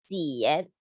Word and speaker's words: 减: So in Chinese, we say 减. It sounds like Jian, 减.